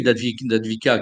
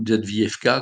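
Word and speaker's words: Avdiivka: Alors, pour la bataille d'Advika qui vient de se terminer, ou d'Advievka, comme on veut selon les prononciations, peu importe, vous voyez à peu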